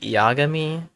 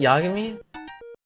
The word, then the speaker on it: Yagami: Isn't it Yagami? I swear that's how they say it in the show. Yagami, but each syllable lasts the same amount of time. Japanese doesn't have syllable emphasis?